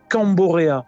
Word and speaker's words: Camborea: Notre ONG, ça s'appelle Camborea. C-A-M-B-O-R-E-A. Comme ça se prononce, en fait.